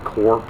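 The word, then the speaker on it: CURP: Corp number c-u-r-purp but they pronounce it Corp here right so they wanted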